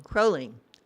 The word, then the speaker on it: Kroehling: Oh, I'm saying it wrong. Kroehling. You got it right, yeah. O-E umlaut.